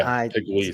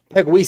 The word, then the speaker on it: Pegues: Pegues is the way that they said it on Chris Sims' show when he broke down the DLs. That's how they pronounced it.